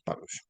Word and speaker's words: parush: Sí, fariseo en hebreo se pronuncia es parush, ¿sí?